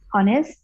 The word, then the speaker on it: honest: Honest, attentive, confident, powerful, practical, proactive, productive. Okay. Productive. Yes, thank you okay. ma'am. So here Okay. this word honest, this is honest. H is silent, Honest.